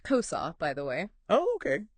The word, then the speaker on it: CoSA: the big idea behind kosa exactly and that's what we're going to dive into today it's pronounced kosa by the way oh okay little nod to the Spanish word for thing and we're going to